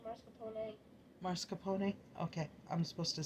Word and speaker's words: mascarpone: Say it like the fancy people and say mascarpone.